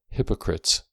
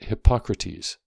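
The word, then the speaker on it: Hippocrates: name of which is not hypocrites but hypocrates the spelling is nearly the same but the pronunciation is different after the name of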